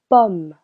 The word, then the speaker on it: pomme: In French. Letter O sounds O. Unless it is placed before two consonants. It will sound. Oh. Une pomme.